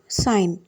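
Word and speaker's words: sign: sound வந்து சைலெண்ட் ஆயிடும் for example சைன் இதை எப்படி சொல்லலாம் சைன் இங்கயும் ஜி யோட சவுண்ட் வந்து சைலெண்ட்ல போயிடும் சைன்க்கு வந்து நிறைய அர்த்தம்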